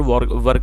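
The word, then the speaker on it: were: तब हमें वहाँ पर वर्ब का प्रयोग करना होगा। अच्छा, दूसरी बात ये दोस्तों, कई सारे लोग इसको वेयर पढ़ते हैं जो कि गलत प्रोनाउंसिएशन है। इसकी जो सही प्रोनाउंसिएशन है वो है वर।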